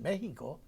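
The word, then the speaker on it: México: I mean we write I write Mexico with a j i don't write with an an X only a Mexican can can pronounce it Mexico so so that book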